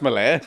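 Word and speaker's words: melee: It's pronounced Melée, but anyway.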